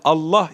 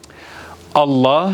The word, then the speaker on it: Allah: caizse gelin detayına bakalım Allah Allah yani Özellikle buradaki yazılışı önemli Allah isminden önce gelen harfin harekesi Üstün veya ötre ise lafzatullahtaki lam şu ortadaki görmüş olduğunuz lan bu kalın okunur Evet tekrar edelim Allah